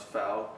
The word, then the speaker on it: FAL: style rifle um people hate it when you pronounce foul because apparently if you pronounce NASA that's wrong